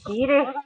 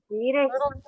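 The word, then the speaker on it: Garioch: follow if I could get up there, is Geary. It spells Garryoch but pronounced Geary.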